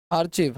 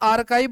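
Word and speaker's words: archive: क्या बोलेंगे इसको भाई आर्चीव है ना भाई इसको देखो पहली बात तो आप लोग आर्काइव बोला करो यह आर्काइव है ठीक है ना क्या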